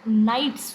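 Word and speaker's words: knights: एक new warrior group नाइट्स जो है केस साइलेंट है ये बनके आया था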